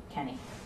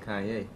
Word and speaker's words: Kanye: little bit try it I'm sorry Kanye oh I'm from Ohio we say Kenny that's how we pronounce it well I don't care where you from you pronounce my name Kanye oh okay let's go